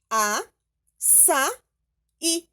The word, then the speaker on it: açaí: Então, vai ficar a, sa, i. Não esqueça do acento.